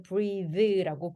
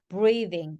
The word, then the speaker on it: breathe: 그래서 얘는 동사일 때는 the라고 발음이 되거든요. breathe라고 발음이 돼요. 그래서 breathing, breathing이라고 하셔야 되는 게 맞아요.